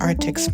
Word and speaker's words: ARRTX: how to pronounce this artics markers artics markers wait one second okay let me check okay yeah so they pronounced artics markers I'm also going to